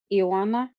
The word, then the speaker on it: Iana: know that eana her Iana it's like Joanna but with an i an and my name